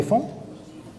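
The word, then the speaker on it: faon: Donc ça se prononce fan et ça s'écrit F-A-O-N.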